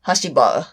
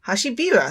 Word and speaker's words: Hashibira: Hashibara. Hashibira, says so on the Wikia.